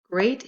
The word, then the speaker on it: great: Great is spelled with 2 vowels, E-A, and they blend together to make the same A sound, great, as the word table.